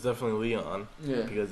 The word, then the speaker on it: Leon: Well, the first Amy or Aime, don't know, but it's definitely Leon.